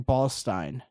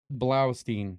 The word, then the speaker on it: Blaustein: It could be like Ballstein. It could even not be the way. Ballstein. I could be like completely pronouncing it wrong as well. It's Blaustein. Blaustein.